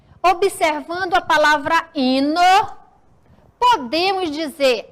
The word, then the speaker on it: hino: e observando a palavra hino podemos dizer a palavra hino e se inicia com h o tio h não possui som ok olha só a